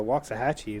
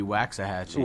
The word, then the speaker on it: Waxahachie: a trik I know at least you pronounce it right man it could be waxah hatchee wax you you'll get you'll get thrown in the dungeon really is it that